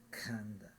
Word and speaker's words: khandha: More air comes out of the mouth. Khanda. That kind of softens the consonant a bit. Khanda. Okay, I'm exaggerating, but that's what the purpose of the H is for, in pronouncing it correctly.